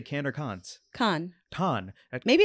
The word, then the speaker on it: Cannes: Cannes. Cannes. Maybe it's Cannes. Do you know, Mark? You know what? It's one of those things where, like, I always hear it's Cannes.